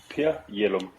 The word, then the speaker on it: Per Jellum: So my name, my name is Per Jellum.